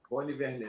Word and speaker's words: Rony Vernet: Rony Vernet. Vou separar aqui. O T é mudo, ele costuma dizer que eu sou o único que chama ele de Rony Vernet.